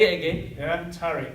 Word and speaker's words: Tariq: Yeah, Tariq. How do you spell it?